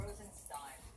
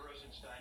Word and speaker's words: Rosenstein: My father pronounces it Stein. That's how I pronounce it. Good morning, I'm Rod Rosenstein. But I actually have relatives who pronounce it Steen, so I'll answer neither one.